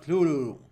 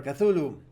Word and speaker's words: Cthulhu: featuring curs captains of Kulu or cthulu I try to use the lovecraftian pronunciation of Kulu this is Pirates of